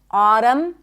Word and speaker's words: autumn: The N is silent in the words hymn, not hymn, condemn, closing my lips, ending with an M, autumn, and government. I do not pronounce the N here.